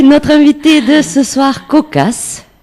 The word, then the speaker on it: Kokass: invité de ce soir cocasse donc ça se prononce comme ça oui cocasse une artiste qui explore